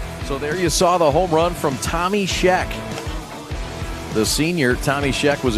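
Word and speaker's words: Schoeck: Scheck is spelled S-H-O-E-C-K. Tommy Scheck.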